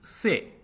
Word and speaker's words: से: Now, proceeding further, the Hindi equivalent word for from is say. Say, and it is pronounced like English word say.